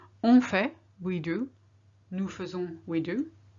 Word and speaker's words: faisons: Nous faisons, we do. Here we say faisons. We should pronounce faisons, but nobody does. We always say faisons.